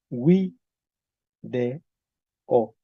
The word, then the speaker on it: video: que parece video pero Cómo se pronuncia en latín se decía Wi de o Ok entonces era de